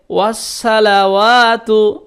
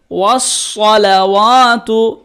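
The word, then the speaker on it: والصلوات: ওয়াসসালাওয়াতু, অনেকে বলে ওয়াসসালাওয়াতু, কেমন করে বলতে হবে? ওয়াসসালাওয়াতু, ওয়াও সাদ জবর ওয়াস, ওয়াস সাদ জবর স, ওয়াস ওয়াস, লাম জবর লা, ওয়াও আলিফ জবর ওয়া,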